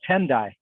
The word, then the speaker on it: Tendai: um peter and tom tom t and d a i can die okay hang on let me look it up make sure i pronounce it probably oh tendai okay uh so peter and